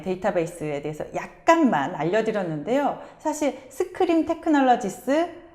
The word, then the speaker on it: SQream: 사실 스크림 테크놀로지스 좀 생소한 회사예요. 네. 어떤 회사인지 약간 설명을 해주시죠. 네. 제가 그 본사에 최근에 출장을 갔었는데 네. 스크림이라고 읽더라고요.